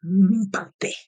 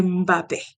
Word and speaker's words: Mbappé: Kylian ne s'appelle pas Mbappé, il s'appelle pas Mbappé, il s'appelle Mbappé. Il faut prononcer le Mba. C'est Mbappé.